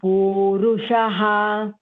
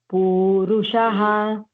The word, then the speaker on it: पुरुषः: पूरुषः पुरुषः अथ केन प्रयोक्त्यं पापं चरति पुरुषः पूरुषः if you are not getting, then split it. Say pu-ru-sha-ha, then you will get it.